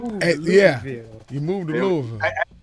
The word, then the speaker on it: Louisville: Yeah, you moved to Louisville. It's Louisville, not Louisville. Louisville. It's Louisville.